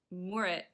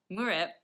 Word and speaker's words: moorit: Scottish word there, and he mentioned that my pronunciation of Moorit was not very Scottish. It's basically because what I tend, and probably other Americans and other non-Scots maybe want to say Moorit. He was saying it's more like if you put the kind of syllable after the O's, so Moorit instead of Moorit. There's also a thing with, Scottish people tend to roll their R's a little bit, so there's that as